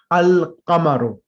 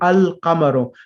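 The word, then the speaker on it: القَمَرُ: moon letters, meaning that the al, the definite article, is pronounced completely. We say al-qamaru. So al, the word qamarun means moon, and we say al-qamaru.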